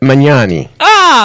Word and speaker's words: Magnani: Magnani.